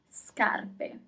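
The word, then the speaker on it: scarpe: As usual, you always pronounce all the letters. Scarp.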